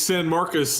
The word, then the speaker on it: San Marcos: How do you pronounce it? It's San Marcos, and then this is the Party School Bowl.